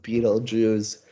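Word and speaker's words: Betelgeuse: you see that spelled differently uh but it's pronounced Beetle Jews so that's why they made the title just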